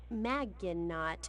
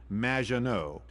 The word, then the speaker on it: Maginot: Maginot, welcome to the show. Thanks, Amy. However, you have mispronounced my name. It's Madge, which rhymes with badge, as in duh, and no as in more than you. Maginot.